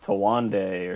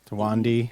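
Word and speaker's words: Thandiwe: it's not Tandy Newton anymore. It's Tawande or something. Tawandi. Is it? Yeah. I know. She Yeah, changed the spelling. she- I didn't know if it phonetically changed. Yeah, as well. it's phonetically different. Oh, okay. Tandaway, I think. She wants to be known by that.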